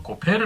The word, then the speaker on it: 고페르: 있는데 어 개혁 계정에는 히브리어의 발음을 그대로 이용해서 고페르 나무라고 나옵니다 자 창세기 16장 14절